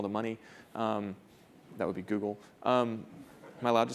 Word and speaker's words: Google: That would be Google. Am I allowed to say that? No, in my household, I made my kids say rhymes with bugle.